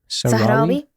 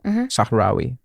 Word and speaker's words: Sahrawi: Sahrawi people, Sahrawi people.